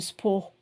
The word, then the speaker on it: sport: So you don't pronounce the T, salle de sport.